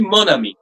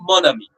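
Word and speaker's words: mon ami: So it will be monami. The pronunciation would be moni. Usually we pronounce m o n as mo. It's the n is a nasal.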